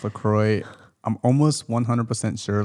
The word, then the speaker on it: LaCroix: would say it's pronounced lacroix i'm almost 100 sure like 99.9 percent sure if you go to the lacorio website it says it rhymes with enjoy so okay i didn't